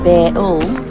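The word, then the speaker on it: Bayle: The word bale, pronounced Beul, is derived from the French word bailey, meaning enclosure or ward.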